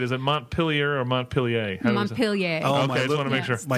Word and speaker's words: Montpelier: Montpelier.